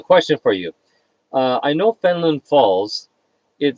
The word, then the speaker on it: Fenelon: And so all you other people out there, now you know the reason between the spelling of Fenelon Falls and the pronunciation of Fenland Falls.